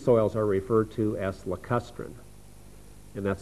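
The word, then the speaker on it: lacustrine: environment then these soils are referred to as lustrin and that's spelled l a c u s t r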